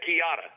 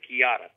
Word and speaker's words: Chiata: call the chiata yeah the kiata kiata like uh pronounced pronounced ke y AA kiata almost like pinata except it's kiata so the kiata um